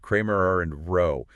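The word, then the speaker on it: Cramér–Rao: And for everyone listening that's pronounced Kramer and row.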